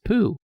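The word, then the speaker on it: Pou: who what's it called p-o-u but it's pronounced poo oh i've never heard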